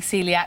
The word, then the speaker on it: coeliac: those people like me who struggled with spelling Celiac you see how they spelled it for me